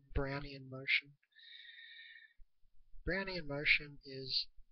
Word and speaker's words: Brownian: um it's just a brunnian random talk brownan sorry I keep pronouncing it wrong Brownie and motion Brownie and motion